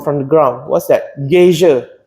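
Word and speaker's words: geyser: coming up from from the ground what's that gazia not glacia gazia not not gisha gay I'm not sure how to spell it Gia glacia not glacia gazia gazia so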